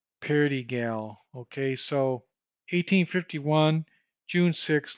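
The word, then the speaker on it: Perigal: Sounds like Peligro, but it's not. It's like Pelagar or something like that. I shouldn't slight the guy. Let me go back, because it's bad luck to mispronounce persons' names. It's George Perdigal. Perdigal.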